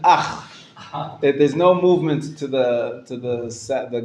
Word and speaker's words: אח: Ah starts here, but ends with the chet. Ach. Ach. Not with the cha at the end. Ach.